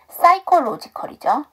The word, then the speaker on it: psychological: 자, 그 다음 아까부터 얘기한다는 걸 잊어버렸는데 PS로 시작하는 단어는 P가 묵음이에요. 그래서 psychological이죠.